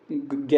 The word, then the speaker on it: ज्ञ: ज्ञ है मैक्सिमम जो है हम लोग को कंफ्यूजन रहे रहता है कि ज्ञ का प्रोनाउंसिएशन कर रहे हैं उच्चारण कर रहे हैं तो ऐसा लग रहा है कि ये जो है आधा ग और य से मिलकर बना है। लेकिन वास्तव में इनसे मिलकर नहीं बना है।